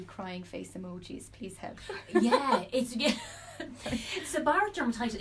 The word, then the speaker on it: seborrheic: She says, I've bad seborrheic, SEBORAH, dermatitis. Seborrheic dermatitis. Seborrheic. Yeah. Dermatitis on my face, and I've tried everything. And then 3 crying face emojis. Please help. Seborrheic dermatitis, it's a nuisance, and it's a greasy looking flakiness.